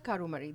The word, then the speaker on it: Karumari: uh how do you say your last name Kumari karumari also came from Washington DC a day